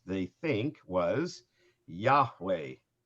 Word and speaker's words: Yahweh: say how the name was supposed to be pronounced they think was yahweh right which would be y-a-h-w-e-h this um this